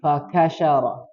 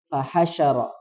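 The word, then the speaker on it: فَحَشَرَ: Nah, ha tadi mohon maaf terbacanya ka. Fakasyara. Fahasyara. Ya, yang betul ha.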